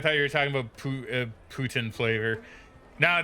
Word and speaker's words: poutine: explain poutine to so it's technically it is actually supposed to be pronounced Putin weirdly enough it is actually supposed to pronounced that but I call it poutine because I'm I'm English Canadian therefore I say it incorrectly um but uh poutine